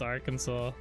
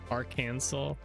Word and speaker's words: Arkansas: Yeah, it's Arkansas. So I was playing dirty on you though. Don't worry. Arkansas.